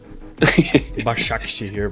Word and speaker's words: Başakşehir: So apologies if I've murdered the pronunciation of that there. No, that's fine. Başakşehir, but it was fine.